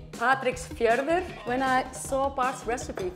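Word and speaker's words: Patreksfjörður: world like for example in patrick's fjorde darnie do i pronounce it well very close it's actually patrick's fierver when i saw park's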